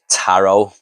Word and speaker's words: tarot: Next up we have Tarot. I called it Tarot, but apparently this movie says these cards are pronounced tarot.